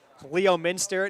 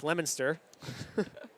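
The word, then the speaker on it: Leominster: Or Leo Minster. Nope, it's Lemonster.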